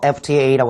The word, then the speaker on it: FTA: 뭐냐면 FTA라고 할 때 F가 우리는 자음이라고 생각하니까 FTA라고 하지만 어를 쓰느냐는 발음에 달려있는 겁니다. 즉 F가 자음으로 보여도 발음기호상에서는 F가 모음으로 시작되는 말이죠. 그러니까 지금처럼 ratify an FTA with America 라는 말을 쓰시면 된다는 거죠.